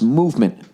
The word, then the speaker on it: MVMT: MVMT watches pronounce movement.